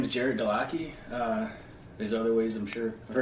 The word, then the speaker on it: Gerrit Delaquis: so I don't want to, my name is Gerrit Delaquis.